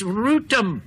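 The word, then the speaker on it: Rotham: Well, they were all telling me how to pronounce the place in Kent that I called Rootham. It's Rootham, they loudly chortled. Thought everyone south of Watford knew that, cried R.S.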